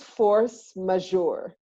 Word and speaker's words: force majeure: this right what is force majeure you said it right it's a French French phrase which literally means superior